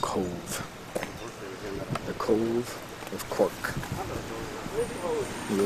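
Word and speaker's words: Cobh: C-O-B-H, pronounced Cove.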